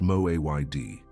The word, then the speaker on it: moed: The word is moed, pronounced mo-a-y-d.